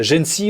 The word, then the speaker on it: GENCI: innovation et technologie de gêne si on prononce comme ça exactement gêne si c'est quoi